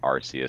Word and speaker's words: Arceus: much brain cells i had to use to pronounce it arceus so that way people won't be confused every